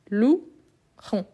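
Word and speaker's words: louerons: pas de lettres vraiment donc quand on fait la la séparation on a lou Ron donc le E ici c'est comme G lou donc g lou il n'y a pas la prononciation de e donc c'est pour ça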